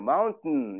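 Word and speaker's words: mountain: 원래 이제 마운틴이라고 보통 하는데 실제 미국 사람들 발음할 때는 TA는 그 잇몸에다가 혀를 붙인 다음에 그냥 하혈시키지 않고 뗐다가 붙이기만 해요. 마운틴 이런 식으로. 그래서 맨하탄이라는 것도 맨하튼, 맨해튼 이렇게 해야지.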